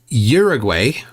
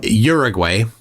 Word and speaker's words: Uruguay: question for you Z Uruguay or you you say Uruguay right Uruguay or urug okay I'm way off yes because you have to pronounce each letter as the sound that it makes so it's it's U